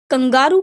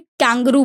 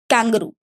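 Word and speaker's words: kangaroo: ठीक है, तो इसकी प्रोनाउंसिएशन ध्यान रखेंगे, this is कैंगरू। Okay, Hindi में हम लोग कंगारू बोलते हैं। ऑस्ट्रेलिया के एनिमल्स है ये, और अगर हम इंग्लिश में देखें तो इसको कैंगरू बोला जाएगा।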